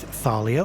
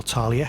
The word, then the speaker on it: Thalia: Argento pick up their first award with Thalia, or Thalia, however you want to pronounce it, as the Best Medium Cake of 2024.